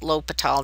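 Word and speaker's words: L'Hôpital: It's still pronounced lital, not hospital.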